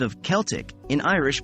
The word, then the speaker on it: Celtic: American and British versions Irish Celtic is pronounced as Celtic the C Sound remains hard like AK and there's a noticeable k sound at the end of the word too the E sounds like the e in get and the I sounds like the i in bit practice makes perfect the